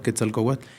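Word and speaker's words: Quetzalcoatl: Entonces, eh, Ketzal Kowat, que también está así pronunciado mejor, Ketal Kowat, serpiente preciosa, es un concepto que viene de miles de años.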